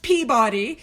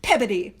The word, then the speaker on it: Peabody: And I've been told that it is not pronounced Peabody, it is pronounced Peabody. And so I pronounce it Peabody.